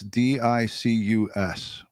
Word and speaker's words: Dicus: I believe that's how it's pronounced, Dicus. It's Dicus.